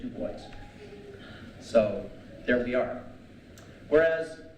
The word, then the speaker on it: Du Bois: I've always thought of it in the French, and I looked online and they said, well, he pronounced it Du Bois.